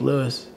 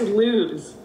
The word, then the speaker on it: Lewes: Oh, I say Cape May Lewis. Yeah, because Cape May's in New Jersey. Yeah. But it's Lewes.